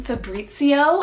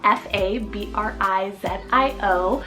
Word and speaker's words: Fabrizio: Kendry means wise man we have the name Fabrizio or fabrio spell f a b r i z i o I was trying to pronounce that correctly I